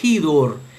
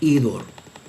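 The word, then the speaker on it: ὕδωρ: Asimismo, esta palabra que significa agua, en la pronunciación erasmiana se le hidor. Hidor, pero según la pronunciación eh reucliniana simplemente se lee ídor.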